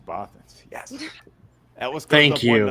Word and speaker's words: Bothans: Now I get to correct you. It's Bothans.